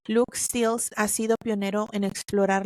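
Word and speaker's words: Luc Steels: Investigadores como Luke, es que es L-U-C, Stills, Luke Stills. Aquí lo pronuncio aquí con mi Spanglish. Luke Stills ha sido pionero en explorar la frontera entre la vida artificial y la inteligencia.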